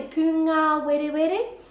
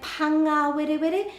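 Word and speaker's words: pūngāwerewere: Just make sure you're not saying panga were were, because the pronunciation of the U in Te Reo Māori is U. A, e, I, o, U. So the U will always be pū. U, u, u. Pūngā were were.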